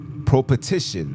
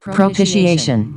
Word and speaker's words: propitiation: say this word right prop petition let me say it right let me say it right let me make sure they say it right propitiation oh propitiation okay be